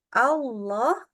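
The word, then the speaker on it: الله: Hamzah ya A nah Allah itu kita membacanya dia bunyinya seperti langsung kayak a nah gitu ya itu bukan karena mengukan bukan tetapi karena menipisnya atau menyempitnya area belakang ini Allah jadi misalkan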